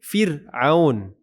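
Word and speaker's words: فرعون: Nah, ini firun. Kenapa kita tipiskan r ir di sini? Fir. Kenapa? Karena setelah fir ada ain. Ain itu bukan huruf tebal. Jadi kita baca firun.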